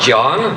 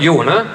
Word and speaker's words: Jon: They insisted in pronouncing the name the correct way, not John, but Jone, and from many small